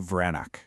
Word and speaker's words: Vranac: Let's dive into Vranac, and you say it like V-R-A-N-A-T-Z.